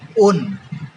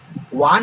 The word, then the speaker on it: one: যদি কিটোন থাকে তাহলে O দন্তন্য ওন, ইংরেজিতে হবে ONE, ওয়ান হচ্ছে কিন্তু উচ্চারণ হবে ওন।